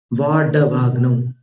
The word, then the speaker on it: वाडवाग्नौ: अंभो निधौ क्षुभित भीषण नक्र चक्र पाठीन पीठ भय दोलवण वाड्डवाग्नौ। वाड वाड नहीं बोलना, ड के नीचे बिंदी वाला उच्चारण नहीं है, ड डर वाला है, डमरू वाला है।